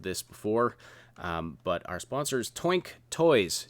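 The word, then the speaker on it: Toynk: have heard of this before but our sponsors twink toys t o y NK i used to pronounce it toy NK no it's actually smoke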